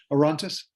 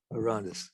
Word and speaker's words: Orontes: And how do you pronounce it? Orontes. Orontes.